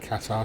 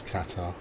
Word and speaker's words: Qatar: didn't add the pronunciation sounded like cats are to me it is Qatar callsign qatari is that